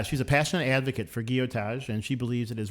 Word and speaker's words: Gillotage: It's I say guotage, but it's G I L L O T A G E. Gillotage.